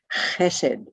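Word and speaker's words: Chesed: this particular circle and that circle is called hessed c-h-e-s-e-d what you probably noticed so far which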